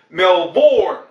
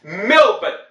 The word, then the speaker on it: Melbourne: Now, some of our North American friends in particular have the appalling habit of calling it Melbourne, just because that's how it's spelt. Okay, that's a feeble excuse, don't use it. It's Melbourne.